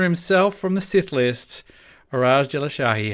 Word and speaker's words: Iraj: I always use because if I say Iraj and it's spelled I-R-A-J, they never ever write I-R-A-J because